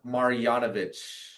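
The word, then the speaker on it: Marjanović: It's really not that difficult of a name if you kind of like Pronounce. I'm gonna hear you say the last name again. Boban Marjanovic.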